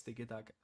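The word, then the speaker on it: tiki-taka: Tik Taka. You can also say it like it's tikk taka thing is football fans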